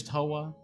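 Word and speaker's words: Towa: a certain Hololive member whose name rhymes with boa, starts with a T, ends with oa, and is Toa.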